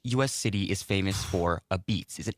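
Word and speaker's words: apizza: Which US city is famous for aisa, which is pronounced a beats? Which US city is famous for a beats?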